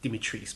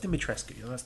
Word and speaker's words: Dimitrescu: I know they said the pronunciation is Dimitris, but that's not how the surname is pronounced. It's a Romanian surname. There have been footballers with the surname Dimitrescu. It's pronounced Dimitrescu.